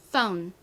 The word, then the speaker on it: phone: phone 한국식으로는 보통 폰 이렇게 발음하고 쓰지만 실제 영어 발음은 폰이 아니라 더 강하게 phone이라고 해주셔야 됩니다. 한 번 더 발음해 볼게요. phone.